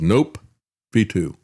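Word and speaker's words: nOPV2: they've come up with is called the N Ov2 pronounced that as nope v2.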